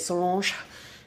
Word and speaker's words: Solange: Solange, that's how you say it, Solange.